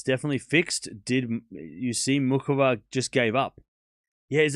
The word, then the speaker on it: Muchova: All the commenters are pronouncing it mu muhova. Yeah, but I'm saying mukova because I I'm Australian and don't make fun of my accent.